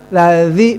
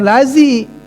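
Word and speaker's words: الذي: Aro'aital ladzi bukan lazi. Nah, itu baru bukan lazi tapi lazi. Tetap harus gegel gitu. Ya. Pengucapan za itu harus dikeluarkan lidahnya. Kalau tidak dikeluarkan bukannya za namanya za. Kalau za pengucapan za dibaca za fatal gitu. Nah, itu yang perlu diperhatikan. Awas hati-hati. Pokoknya dikeluarkan oleh lidahnya.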